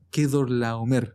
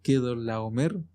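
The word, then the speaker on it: Quedorlaomer: Había una guerra entre Kedorlaomer, así se pronuncia, Kedorlaomer, y entre el rey de Sodoma.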